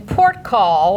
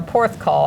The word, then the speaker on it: Porthcawl: watch the show in port call or Porthcawl I think it's pronounced port call could be either the local government has